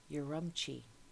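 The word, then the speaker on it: Urumqi: city uh around Turpin is called uramchi I believe is how you say it you're rumpchy and that's this this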